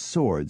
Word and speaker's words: sword: until the 19th century swore was spoken with a silent W as sword still is as were Edward and